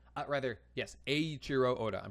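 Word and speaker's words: Eiichiro: Aurro rather, yes, Aiurro Oda. I'm pronouncing it correctly now.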